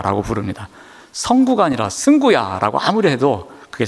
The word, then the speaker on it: 승구: 그래서 제가 늘 발음을 가르쳐줘도 급하면 항상 성구야 라고 부릅니다. 성구가 아니라 승구야 라고 아무리 해도 그게 잘 안 됩니다.